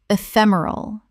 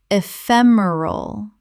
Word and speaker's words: ephemeral: already covered Word 254 ephemeral common mispronunciation ephemeral correct pronunciation ephemeral four syllables with the stress on the second It means lasting for only a short time.